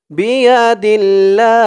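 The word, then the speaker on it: بِيَدِ اللَّهِ: এই জিম চিহ্নতে অক্ফ করার কারণে, থামার কারণে এখানে উচ্চারণ হবে বিয়াদিল্লাহ।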